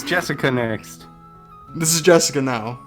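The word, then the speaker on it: 朱志香: Anyways, Nah is pronounced Jessica, since she's Dad's older brother's daughter.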